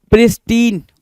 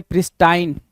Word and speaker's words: pristine: So pristine or pristine, both is correct, right?